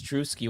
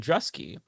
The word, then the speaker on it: Druski: Uh either Rebecca or Ariana was like, "No, it's Drewuski when I said Dresky."